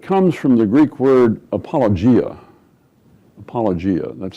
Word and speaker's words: apologia: But it comes from the Greek word apologia. Apologia, that's spelled A-P-O-L-O-G-I-A.